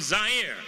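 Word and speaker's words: Zaire: Howard Kosell coming to you live from Zire. Some would pronounce it Z.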